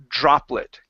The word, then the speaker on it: droplet: word droplet okay so with this word you want to say Dr droplet give me a Jr sound droplet okay almost so you're almost there so it's droplet droplet okay so the trick here with the J with sorry with the Dr okay is you want is you have to make your tongue stronger okay so the exercise